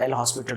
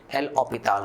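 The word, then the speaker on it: L'Hôpital: पटना में तो हमें हमारे जो टीचर्स सिखाते थे वो एल हॉस्पिटल रूल ही बोलते थे, लेकिन बाद में पता चला कि नहीं यार, इसका प्रोनाउंसिएशन कुछ और है, एल ऑपिताल रूल है।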